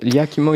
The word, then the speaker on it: Yakima: Yakima, YKK. Yakima, comme ça se prononce.